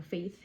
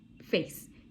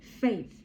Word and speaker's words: Faith: So yeah, Faith, like not face, nicht face, aber Faith, you know.